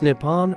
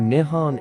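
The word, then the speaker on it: 日本: brief history of japan pronounced nippon or nihon in japanese japan is a pacific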